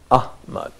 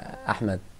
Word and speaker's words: Ahmed: name is Ahmed, so the second letter of my name is ha. Yeah. So when I was in the US, a lot of people actually was very confused about the pronunciation of my name. They were saying Ahmad. Can you see that? So they are making a mixture between ha and ha.